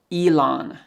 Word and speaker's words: Elon: Elon. Must, change T to K, it's Musk. So together it's Elon Musk.